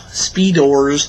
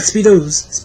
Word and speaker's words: Speedors: There's kind of the smaller ones which they call speedors. Speedors? Yes, I'm not being retarded. I'm actually pronouncing that right. Not speedos. Speedos.